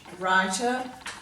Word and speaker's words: writer: day 2 page, and all these words have a silent W with them, and we usually see a silent W before an R, as you'll see in all these words.